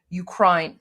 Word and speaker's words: Ukraine: But what what what he means is that um when you say Ukraine, don't say Ukraine. Pronounce it uh the way you would the I in high. So Ukraine.